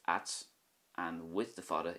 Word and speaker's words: ait: This is pronounced at, which means strange or unusual in Irish, at.